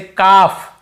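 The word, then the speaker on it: calf: नहीं पढ़ते जैसे जसे काफ काफ काफ हाफ हाफ काफ हाफ एल को यहां पे नहीं पढ़ना काफ हाल्फ नहीं पढ़ना है काफ बचड़े को बोलते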